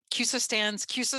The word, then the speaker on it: CUSO: CUSO is an acronym. And it's very helpful that you can say it like a word, but it stands for Credit Union Service Organization.